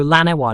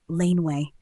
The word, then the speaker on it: laneway: Keep it smooth and transition seamlessly between the two syllables. No lana wa, no line way. Just a clean, natural flow, laneway.